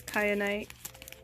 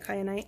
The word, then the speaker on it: kyanite: Correct, it's kyanite. It could be also probably pronounced kyanite, but I'm pretty sure it's kyanite.